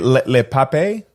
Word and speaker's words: Le Pape: do you say it Le Pape Le Pape the Pape like Papa El Papa so we're basically drinking